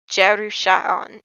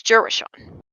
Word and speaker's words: Jarusha'on: And so put together, Jarusha'on is the pronunciation is directly how you'd say it in the language, but simplified to common, or in this case English, it's Jurashon.